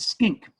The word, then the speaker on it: skink: solomon he's a giant skink now i did not say stink although stink rhymes with skink he is a skink